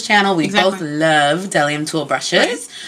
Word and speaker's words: Bdellium: Bdellium Tools. The B is silent.